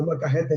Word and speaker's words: molcajete: The molcajete. Now you say it right. In the molcajete, so I could smash it up to make the cocoa powder or cacao powder.